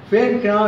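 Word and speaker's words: फेंकना: புள்ளி வச்சுருக்கிறோம். ஃபேங்க்னா என்று உச்சரிக்க வேண்டும்.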